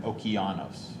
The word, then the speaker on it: Okeanos: talked about the japanese gq and also which is spelled c-h-i-k-y-u g-q and um i also talked about the american okeanos so that's o-k-e-a-n-o-s okeanos explorer okay so